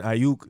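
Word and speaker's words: Aiyuk: know and then with brandon ayuk that's how you pronounce his last name his breakout rookie year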